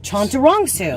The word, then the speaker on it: Chantarangsu: have to be looking at it so chanter chantarongsu chondurongsu yep that's not so hard yeah i know